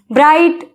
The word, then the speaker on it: bright: ब्राइट, ब्राइट, ब्राइट, तो spelling ये है ब्राइट, BRIGHT, जिसमें जी जो है साइलेंट है।